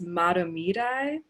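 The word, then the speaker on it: Mahtomedi: Beth taught me that it's Matamidi because I'm not a local of Minnesota, and I feel like this was kind of a rite of passage to learn how to pronounce Matamidi correctly.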